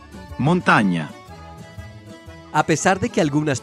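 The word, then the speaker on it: montagna: El sonido que produce la ñ en español corresponde a la combinación GN en italiano. Montaña, montaña.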